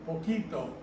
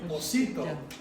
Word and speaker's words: poquito: A C followed by an I has That's a a C. S sound. That's all, yeah. That would be pocito. So you don't go poco, pocito, you go poco, poquito. So it's spelled to keep the k sound.